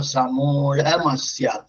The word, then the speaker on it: സമൂഢമസ്യ: അതിൽ ഋഗ്വേദികളുടെ ആ ഢ എന്നുള്ള അക്ഷരം ഉച്ചാരണം ള എന്നുള്ളതാണ്. ഗ എന്നുള്ളതിന് ഗ എന്നുള്ള ആക്കണ പോലെ ഏതാണ്ട് ള എന്നുള്ളതിന് ള ഒരു ഹകാരം ചേർക്കുക. അപ്പൊ സമൂഢമസ്യ.